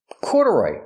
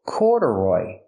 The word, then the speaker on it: corduroy: Corduroy. Pronunciation. Corduroy. The stress is on the first syllable. Corduroy.